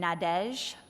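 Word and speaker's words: Nadège: right there in our town two ladies named nadesh which is spelled n-a-d-e-g-e in case anyone wondered and Annabelle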